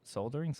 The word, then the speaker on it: soldering: poor, what is it, soldering? Soldering. Thank you. L is silent. L is silent? Yeah, so like soldering.